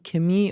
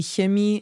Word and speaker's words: Chemie: So it really varies on the region and dialect you're hearing in German. So it might be pronounced die Chemie or die Chemie or somewhere even die Chemie.